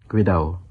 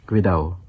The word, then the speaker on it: cuidao: There's the word Cuidao. and notice that the second D isn't pronounced, another feature of Philippine Spanish. Cuidao.